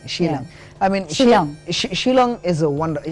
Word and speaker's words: Shillong: Sheila I mean young Shillong is a wonder how do you pronounce that it is Sh I ll or ng she long she long it was the capital